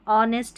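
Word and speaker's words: honest: कुछ शब्दों में एच नहीं पढ़ा जाता, विशेषकर यहाँ पर स्पेलिंग्स दे रखी है, इनको याद कर लें। जैसे ऑनेस्ट ये दे रखी है ना, ऑनेस्ट, आवर और ऑनर।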